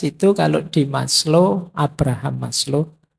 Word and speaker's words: Maslow: Jadi moralitas itu kalau di Maslow, Abraham Maslow, ini bukan Maslow membacanya. Maslow itu nama, jangan dibaca Mas itu ya Mas, low itu rendah, jadi Mas yang kelas rendah. Rendah. Maslow itu lengkap.